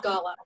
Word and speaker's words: Gala: I even looked that up of how to say it, and it is Gala.